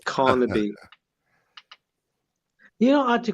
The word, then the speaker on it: Carnaby: the way tim is on carnaby street not kanabi yes carnaby you know i had